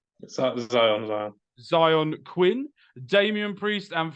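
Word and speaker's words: Xyon: Zion.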